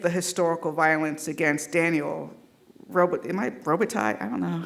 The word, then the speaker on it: Robitaille: DaCosta uses an animation to depict the historical violence against Daniel Robitaille? I don't know. How do you pronounce his name? Y'all know. Robitaille, got it.